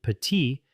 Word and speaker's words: petit: For instance, the final consonant in petit is silent, but we pronounce the T in petite.